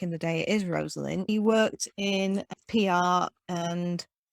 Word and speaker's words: Rosalyn: lives back on track what first of all rosaline what uh sorry this is rosalind everybody i've not even introduced your name have i i do apologize let me say it properly rosalind so welcome roslyn to the weird world